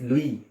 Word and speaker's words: Louis: It's Louis, S is silent, Louis Pasteur.